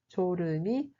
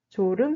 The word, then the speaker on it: 졸음: Lorsqu'on a du mal à résister à la somnolence, on utilise l'expression 졸음이 쏟아지다. 졸음이 쏟아지다. 졸음 se prononce comme 졸음. 졸음.